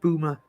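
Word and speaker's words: Boulmer: And I think it's supposed to be pronounced Bulma, but if you're local, you just call it Boomer.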